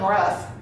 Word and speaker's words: rough: Except, you don't hear the O in rough. You hear the U making a short sound.